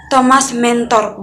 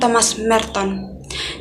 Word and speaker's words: Thomas Merton: Di situ teman kita menyebutkan Thomas Mentor, bukan Thomas Merton. Dan bagian yang ketiga yang dapat saya berikan yaitu untuk Thomas Merton sendiri, diharapkan teman-teman sedikit mencakup bagaimana Thomas Merton bisa meninggal dan apa